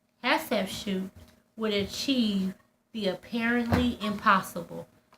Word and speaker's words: Hatshepsut: Athlete feet? No, Hatshepsut.